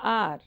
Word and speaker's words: hour: My father returned after an hour.